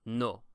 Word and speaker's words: no: is no so the word is pronounced no okay you'll notice it's a little shorter than in English a little shorter a little rounder so you would say